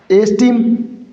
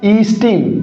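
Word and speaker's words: esteem: एस्टीम। नहीं दोस्तों इसका करेक्ट प्रोनन्सिएशन क्या होगा? ईस्टीम।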